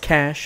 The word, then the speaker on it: cache: Like, that's a cache. I know it's pronounced cash.